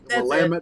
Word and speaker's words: Willamette: lamb it damn it Willamette Valley and I was supposed to rhyme with dammit that's why I say